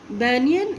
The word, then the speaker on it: banyan: कोई भी इसको बनियान नहीं बोलेगा. ओके. बनियान का मतलब पहनने वाला कपड़ा. तो बनियान कोई नहीं बोलेगा. क्या बोलेंगे आप लोग? बैनियन. Okay. This pronunciation of this word is बैनियन. BAN ban, YAN banyan.